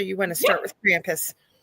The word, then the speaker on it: Krampus: Laurel and he said you say it wrong it is not Krampus it is Krampus and uh told me